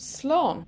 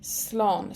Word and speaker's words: Slán: can use a short version which is just Sloan Sloan so the Irish is in the green here Sloan and our pronunciation is below in the yellow Sloan however